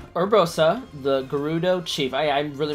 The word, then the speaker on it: Gerudo: if we can reach her urbosa the gerudo chief i i really mispronounced garuda all right head to urbosa the ruling forces